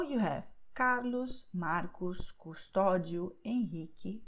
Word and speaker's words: Henrique: The U is silent here, okay, QE, QI. So you have Carlos, Marcos, Custódio, Henrique, Quitéria.